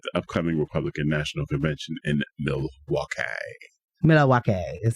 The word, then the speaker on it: Milwaukee: Hot-button issues sure to be highlighted at the upcoming Republican National Convention in Milwaukee. Milwaukee is how you pronounce that, Dems. Milwaukee.